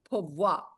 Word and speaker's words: poivre: Yeah, you don't pronounce the E, so Okay, that's a Lord.